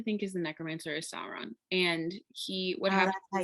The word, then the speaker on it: Sauron: person that they think is the necromancer is sauron and he what happened that's how you say